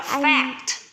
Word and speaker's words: fact: Fact, mở rộng cái miệng ra, há to cái miệng ra và đọc là fact.